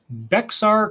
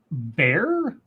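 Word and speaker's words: Bexar: oh right Raymond says Beck's R is pronounced bare bare as I would ask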